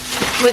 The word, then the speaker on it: oui: Joey's gonna find the correct pronunciation. Yeah, I don't know, it's French and I always say it wrong. We got eggs for breakfast.